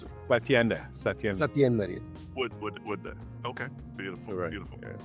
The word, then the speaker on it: Satyender: Satiende, is that how you pronounce it? Satiend. Satiender.